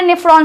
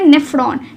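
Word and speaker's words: nephron: हुई तो किडनी बनी हुई है बहुत सारे नेफ्रॉन से और नेफ्रॉन की स्ट्रक्चर कैसी थी ये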